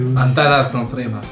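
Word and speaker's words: Antanas Kontrimas: Antanas Contrimas. Est-ce que t'as une meilleure manière de le dire? Parce que... Antanas Contrimas. Très bonne prononciation.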